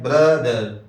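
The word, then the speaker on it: brother: فادر۔ اخن اخن بھائی، برادر برادر، یہاں بھی آخر میں آر آیا تو اس کا تلفظ بالکل واضح نہیں ہوگا، بلکہ کہیں گے برادر برادر۔ استاذ استاذ استاد،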